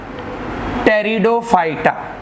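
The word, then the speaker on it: Pteridophyta: Okay, vascular में हम जिन plants को स्टडी करते हैं, that group is called, P silent है यहां पर, टेरिडोफाइटा।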